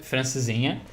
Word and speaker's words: Francesinha: So, yeah, you pronounce it Francesinha.